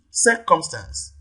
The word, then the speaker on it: circumstance: prime stress then see circumstance clearly the first syllable here receives the primary stress and d relegate relegate